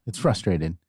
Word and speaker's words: frustrated: No, it's it's frustrated. Or frustrate. But people pronounce it without the first R and they say frustrate or frustrated.